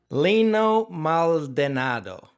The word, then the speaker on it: Lino Maldonado: Lino Maldonado. Is that pronounced correctly?